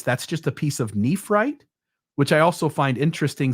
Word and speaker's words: nephrite: is that the rock nephrite, which I thought was at least worth mentioning. Okay. And it is actually spelled the same as Nephite, except with an additional R, right? It's Nephrite, right?